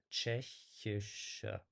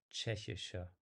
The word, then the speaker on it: Tschechische: But yeah, with Tschechische, it's probably a matter of the letter combination that people usually find it a bit hard to pronounce. So it's Tschechische, Tschechische. There's a lot of sh.